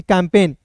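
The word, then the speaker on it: campaign: ए आई है दोस्तों। तो ए आई का उच्चारण बस एक एकल के रूप में करते हैं और एन का दोस्तों न होता है। तो सी ए एम पी ए आई जी एन को क्या पढ़ेंगे? कैंपेन।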